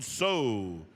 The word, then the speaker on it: Tso: from Edmonton Alberta Jon so from chinley Arizona and so is spelled TSO it's Navajo Jack Williams from Shiprock